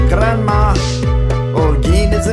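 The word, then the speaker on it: Granma: If you pronounce it correctly, it sounds like Grandma.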